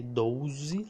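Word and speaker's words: doze: okay trace a uh people from here general usually say dozie like there wasn't you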